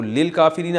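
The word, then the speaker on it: للكافرين: तो लिल काफिरीना असल में था ली अल काफिरीना। तो अलिफ साइलेंट हो गया।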